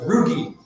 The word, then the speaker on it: Roogie: A hard G. So that's Roogie. Rhymes with boogie. Roogie. Rhymes with boogie, not rhymes with bougie.